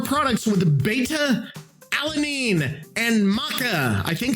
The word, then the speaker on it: maca: We crafted our products with beta alanine and maca. I think it's maca. Is it maca? Macaw? No, a macaw is a bird. Maca.